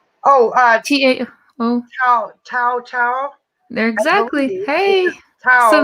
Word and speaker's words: Tao: How do you pronounce the name? Oh, T-A-O. Tao.